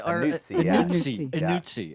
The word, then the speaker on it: Anuzzi: So anytime there's a double letter in Italian, you have to pronounce it the hard sound of that letter. Okay. So just like pizza with the TZ sound, the strong Z, Anuzzi. That's how you do it with my name too.